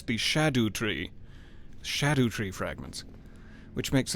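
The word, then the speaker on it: Scadutree: logic to scadu 3 the C should be like an H is what I heard in Old English pronunciation so it's the shadow Tree Shadow tree fragments which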